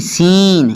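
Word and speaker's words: scene: आगे जी सीन, एस सी ई एन ई सीन, यहाँ पर भी सी साइलेंट है।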